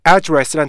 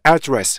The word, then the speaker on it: address: 강세가 앞에도 없고 뒤에도 없잖아요. 그러면 정확하게 address 이렇게 읽어야 돼요. 앞에 에 발음도 살아있고요, 뒤에 에 발음도 살아있어요. 그래서 address 이렇게 읽으셔야 돼요. 그런데 이게 명사로 사용되면 앞에 강세가 붙어요.